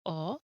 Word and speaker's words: ho: So, io ho, tu hai, lui, lei ha, loro hanno. The H is silent, but we must remember to write it.